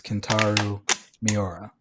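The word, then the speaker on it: Kentaro Miura: want to screw up his name but it's kantaru miora right beautiful pronunciation you got it so you know rest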